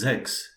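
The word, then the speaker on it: sechs: right then again we are writer this is sex s-e-c-h-s sex six six seven yes exactly this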